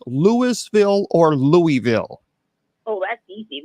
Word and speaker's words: Louisville: The capital of Kentucky, is it pronounced Louisville or Louisville?